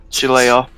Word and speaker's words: Shillelagh: I have no idea how to pronounce this. Shillelagh. Shillelagh.